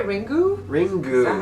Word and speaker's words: Ringu: Ringu.